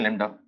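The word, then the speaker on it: lambda: इसको बोलते हैं लैम्डा। मेरे हिसाब से नाम में बी आता है, बी साइलेंट होता है, बाकी क्या पता ना आता हो, स्पेलिंग पे मत जाना।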